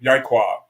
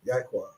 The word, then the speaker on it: Yaikwab: That's my name, Yaikwab, and that's my number. Yaikwab. Yeah. Yeah. Can you read it? Okay. Well. Yeah. Just let me spell it another way. Okay. Another way. Yai. Like Yai. Quab.